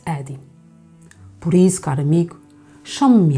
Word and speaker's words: Adi: O meu nome é, mas os amigos tratavam por um diminutivo, Adi. Em inglês pronuncia-se Eddie.